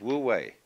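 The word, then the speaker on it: wu wei: and so the Taoist manner of life is Wu way Don't Force It always go with the stream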